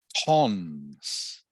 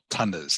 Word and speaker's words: tons: So this word here is pronounced tons, tons. Okay, not tonners, it is pronounced tons.